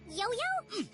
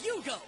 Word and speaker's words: Yugo: name again is it yo-yo yo y yo my name is Yugo not yoyo get it right you